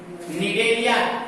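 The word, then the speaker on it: Cnidaria: निडेरिया हालांकि सी से शुरू होता है, निडेरिया, सी साइलेंट होता है, निडेरिया का।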